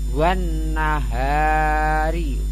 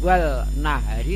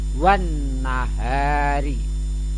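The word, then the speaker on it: والنهار: Kemudian wan nahari ini adalah alnya tidak terbaca, namanya al sam siyah, maka membacanya tidak wal nahari tapi wan nahari.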